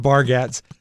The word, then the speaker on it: Bargatze: I think it's pronounced Bargatze.